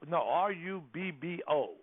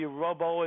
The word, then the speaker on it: Rubbo: R-U-B-B-O.